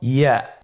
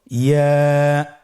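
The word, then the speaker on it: ياء: ইয়ার মাখরাজ কোন জায়গা থেকে উচ্চারিত হয়? ইয়া উচ্চারিত হয় জিহ্বার মধ্যখান তার বরাবর উপরে তালুর সঙ্গে লাগিয়ে উচ্চারিত হয়। আমরা জিহ্বার মধ্যখানটাকে উপরে তালুর সঙ্গে লাগিয়ে উচ্চারণ করি ইয়া।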